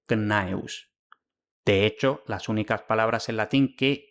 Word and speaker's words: Gnaeus: siguiente, por lo que es simple y llanamente imposible el nombre knaeus, porque la CN no puede estar en la misma sílaba. En cambio, el grupo GN homosilábico está bien documentado en palabras latinas como gnarus, gnatus, gnosco y por supuesto gnaeus.